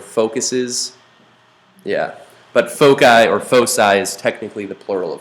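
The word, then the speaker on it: foci: has two centers uh I think that's actually technically pronounced fosi I'll probably call it folai fuky I don't know all sorts of weird fosi uh it's the plural of uh Focus okay so like that's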